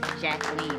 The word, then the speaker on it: Jacqueline: see what I mean Jacqueline rhymes with Queen Ethan oh don't get